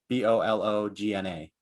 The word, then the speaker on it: Bologna: i i don't know if it's balone but bologna or something like that it's italian b-o-l-o-g-n-a oh oh yeah bologna yeah bologna bologna in english university of bologna in